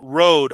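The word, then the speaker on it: Røde: That microphone Kaitlyn Robrock has mentioned is spelled Rode, R-O, with a line through the O-D-E. Yeah, it's Rod.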